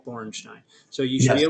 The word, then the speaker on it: Borenstein: is spelled, and Bornstein is Borenstein. Bornstein.